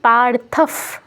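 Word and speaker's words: পার্থঃ: লোভ পাবে স্থিতান স্থিান পারথফ পরে প আছে বিসর্গের পরে যদি প বা ফ থাকে বিসর্গের জায়গায় ফসন্ত উচ্চারণ করতে হয় ঠিক আছে তাই কি হচ্ছে পারফ পারফ পিত এখানে দেখুন আপনারা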